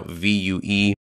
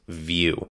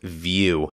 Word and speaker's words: Vue: front end application now V uee is pronounced vew I've called it Vu multiple times in my life but it is pronounced view um like you're viewing something so make sure you're